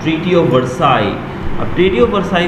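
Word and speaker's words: Versailles: देखिए स्पेलिंग दी गई है वर्साइल्स, वर्साइलिस समथिंग लिखा गया है, तो इसको जब हम प्रोनाउंस करते हैं तो वर्साई करते हैं, वर्साइलिस नहीं करते हैं, ठीक है।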